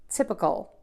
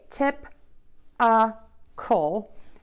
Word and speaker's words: typical: Tippa typical typical typical so let's look at the syllables here we're going to start with tip with a nice short I sound tip then you're going to move to that uh the key is make that second syllable very very short and make sure it's connected to syllable number one so I also hear people say tip uh coal and that's not the way we say it we link it